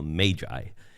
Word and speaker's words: magi: I say their name, I call them the magi because that's probably how it was correctly pronounced rather than magi. So just think of the m a the a there as being a long a rather than a short a.